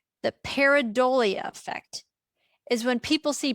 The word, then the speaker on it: pareidolia: This is called the paridolia effect. And this is kind of a big word, so I'm going to say it twice so that you can feel comfortable with the pronunciation. The paridolia effect is when people see patterns, inadimate objects